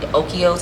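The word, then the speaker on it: Oikos: sometimes I do yogurt I do um like okos and that's how you pronounce it the 20 g of protein and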